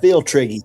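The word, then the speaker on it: Pfifltriggi: Phil Triggy. I said feel Triggy.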